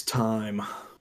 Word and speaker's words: thyme: Yeah, you pronounced that word wrong, bud. Well, how would you say it? It's time. Oh, did you say thyme? really? It is thyme.